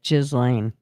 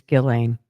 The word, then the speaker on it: Ghislaine: I know that's not how you say it, but it's how I say it. They're lucky I didn't say it. put a Z there and forget the H. But but I know it's Gillain or some shit like